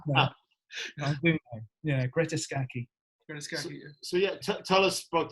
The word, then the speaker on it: Greta Scacchi: Because I've never known how to pronounce that is exactly, yeah, that is, that I do know. I do know. Yeah, Greta Scacchi.